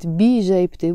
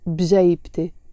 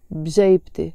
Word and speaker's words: بجيبتي: I'm not pronouncing it bi jaybte, which is possible and it's 100% correct, but I'm choosing to pronounce it bjaybte, bjaybte, with a skoon on the b.